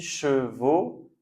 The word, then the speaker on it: chevaux: Donc on prononce toujours le son sans rajouter s'il y a une lettre à la fin, on ne la dit pas.